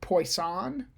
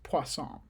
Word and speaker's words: Poisson: you want to be if you want to say it more in a french accent or or pronounce it how the french would pronounce it it's poisson okay anyway that doesn't